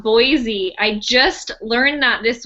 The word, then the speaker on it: Boise: It's Boise, not Boise.